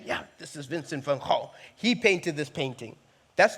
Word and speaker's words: Gogh: Gogh.